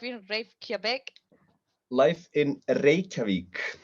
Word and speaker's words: Reykjavik: the city life in grave quebec life in reykjavik reykjavik yeah there is okay i was making it